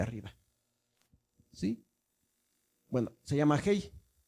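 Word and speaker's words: ה: Bueno, se llama Hei. Es muda, pero como tiene esta rayita, la pronunciamos como A.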